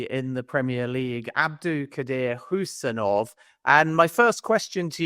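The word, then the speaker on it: Khusanov: It's Abdulkadir Husanov. So it's like who, as in that you say, who is that? Husanov.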